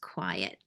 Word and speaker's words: QIAT: services with quiet and Qi a t is pronounced quiet Michael let you take